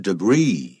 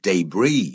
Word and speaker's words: debris: erosion 也是借着这种侵蚀 from river debris 或者 debris 有两个念法、啊、 Right, debris or debris are both okay but just make sure the S is silent 对 S 不发音就是碎粒子啊，也就是沙石啊，河里面的这个沙石Cutting through, 啊，就是切入啊，这些大岩石，把它切割，然后就造成了这种腐蚀，这样的形成的大峡谷，这是不太一样的啊。好，所以我们可以知道答案是 A.